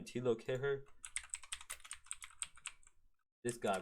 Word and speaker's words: Kehrer: Thilo Kehrer.